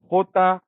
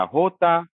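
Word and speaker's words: jota: में इसका नाम है होता या होता। आवाज देता है ये ह की। और अब ये कंप्लीटली आपके ऊपर है कि आप कहाँ कंफर्टेबल हैं। आप होता के साथ कंफर्टेबल हैं या होता के साथ कंफर्टेबल हैं। दोनों ही करेक्ट हैं, दोनों ही आवाज बिल्कुल करेक्ट है।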